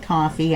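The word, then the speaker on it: Ko-fi: member coffee I guess they pronounce it coffee I'm sorry I of the K I want to call it Kofi um then uh you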